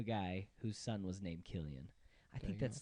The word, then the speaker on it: Cillian: cash Murphy Killian oh yeah dude I've been pronouncing it sillion for so long so I watched the same interview you talked about um watching and he says Killian in it and so that's what I'm going